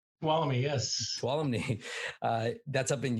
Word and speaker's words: Tuolumne: Tuolumne? Tuolumne, yes.